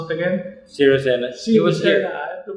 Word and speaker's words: Sirisena: Sri, how do you pronounce it again? Sirisena.